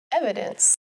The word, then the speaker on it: evidence: Evidence. Evidence has three syllables. Evidence. With the emphasis on the first syllable.